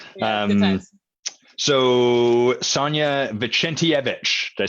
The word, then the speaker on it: Vicentijevic: So Sanja Vicentijevic, did I say it right? You are like 90% of the way there. Yeah, that's an A. Yeah, you say it for us. Vicentijevic.